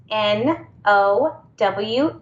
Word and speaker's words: Snowe: a nickname because it's the word snow with an e at the end I just love it yes the E is silent and is my real